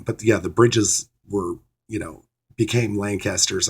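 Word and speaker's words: Brigge: from the isle of wight was actually a bridge that's how you pronounce this b-r-i-g-g-e but here it tells you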